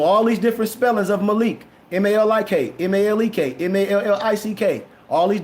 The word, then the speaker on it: Moloch: But the case of Moloch, purposely mispronounced as Molech instead of Malik, using the vowels of the Hebrew, the Bashik, the Shem.